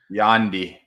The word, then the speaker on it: Yandy: Yandy. So see, if you were going to help him spell that, B. Kelly, it would be like YAWNDEE.